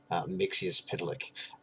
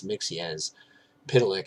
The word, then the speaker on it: Mxyzptlk: My understanding is that it's Mxyzptlk. I believe I got that from either Lois and Clark or Superman the Animated Series, and I appreciated the pronunciation so much that I decided to stick with it.